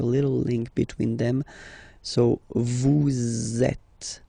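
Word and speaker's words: vous êtes: Vet. Same thing here. Notice that final S is not pronounced at.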